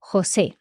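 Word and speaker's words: José: lot of different Spanish names MH for example Jose Jose okay this is just like a a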